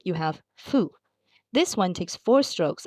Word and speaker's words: ふ: You're just going to gently blow air through your lips, kind of like you're blowing out a candle, but make sure your top teeth don't touch your bottom lip.